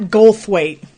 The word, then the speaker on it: Goldthwait: the burglar Bobcat Bobcat Goldthwait is his name and there's a th in there because I always mispronounce it it's the coolest name